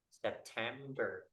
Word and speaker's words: September: Stress in English, like the stress in English, like I have word September. So the stress is at the second syllable.